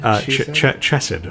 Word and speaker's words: Chesed: What was the pronunciation? She said. Chesed, I believe. Chesed. Yeah. Chesed was the suggested one.